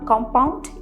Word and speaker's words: COMPOUND: कॉम्पाउंड, कॉम्पाउंड, first syllable पे हम stress दे रहे हैं।